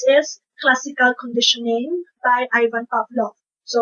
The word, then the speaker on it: Pavlov: one is ivan pavlov so it's spelled as pavlov but then uh according to my psychology professor it's supposed to be read as ivan pavlov so let's have a